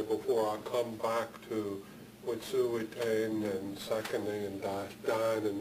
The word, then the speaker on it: Wet'suwet'en: And they pronounce the name Wet'suwet'en, Wet'suwet'en, Wet'suwet'en. It's almost like this is a long E there, Wet'suwet'en.